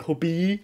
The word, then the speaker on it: Hobbii: a while ago, and a lot of Danes, they will just say hobby because, and not say it like Hobbii because there's two e's, right? So you need to like drag it out like that, Hobbii.